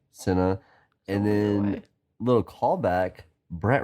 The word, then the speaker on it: Sena: We had Dominic Sena, which I think is how you pronounce that. It's Sena. Sena.